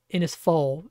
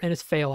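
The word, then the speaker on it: Innisfail: from air up to inis fall or inis fail I think is how you say that Cyclone watch in place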